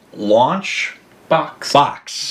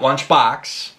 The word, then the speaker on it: Launch Boks: So it's a company called Launch... Box. B-O-K-S. Yes. Not Lunchbox. I'll probably say it wrong. Lunchbox. Dare I say it wrong now. Launchbox. Yep. Launchbox.